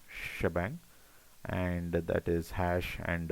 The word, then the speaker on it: shebang: So we do shebang uh this is pronounced as this is read as shebang and that is hash